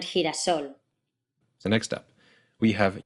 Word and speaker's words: girasol: down in your throat, then you get what looks like a lowercase x. As in gelatina and girasol.